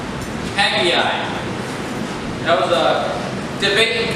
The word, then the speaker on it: Haggai: It's not 2. It's not Haggai or Haggai. It's actually pronounced Haggai.